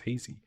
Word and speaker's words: hazes: Uh, even the big cities have hazes, which is like a car, a horseless engine, HC, but they pronounce it as hazy.